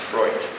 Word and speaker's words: Freud: Till this day, as soon as you mention the word Freud, which in German is pronounced Freud, these like Freud.